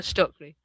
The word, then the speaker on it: Stoeckley: I'm going to go for Stoeckley, that you pronounce her name Stoeckley. Helena Stoeckley. Months after the murders, Helena Stoeckley, a young woman struggling